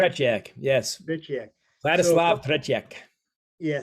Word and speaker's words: Tretiak: For the Russians, Tretiak, is that how you say his name? Tretiak, yes.